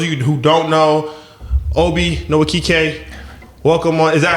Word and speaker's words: Nwokike: So for those of you who don't know, Obi Nwokike, welcome on. Is that how you say it? Nwokike. The N is silent. Okay, so it'll get you every time. Yes. Okay, so with Obi Nwokike, welcome on the show, man.